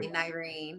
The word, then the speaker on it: Nirine: So I always say to people, it's like Irene with an N spelled with an N. Exactly. I just wanted to make sure. NIRINE.